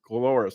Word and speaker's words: Coloris: Is that pronounced? Coloris, thank you.